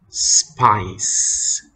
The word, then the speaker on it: spice: Here the C with the E has the sound s. Spice, spice.